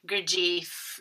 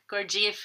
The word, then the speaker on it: Gurdjieff: Gurdjieff, I think, I've heard it pronounced both ways, Gurdjieff or Gurdjieff.